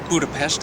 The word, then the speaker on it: Budapest: Ro here it's the next morning here in Budapest or budapes as they like to pronounce here in Hungary this is the largest